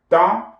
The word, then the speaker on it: temps: Okay, because the P is not pronounced and the EM is nasalized as So, quel temps fait-il?